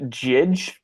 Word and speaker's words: Jydge: There's a game, I believe it's pronounced Jidge, but the way it's stylized looks like Judge.